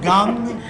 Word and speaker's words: Kang: big surprise you know i think they call him gum but it's spelled kang but there's another guy